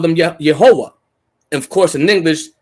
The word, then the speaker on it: Jehovah: You see Jehovah. They pronounced it as Yehovah, right?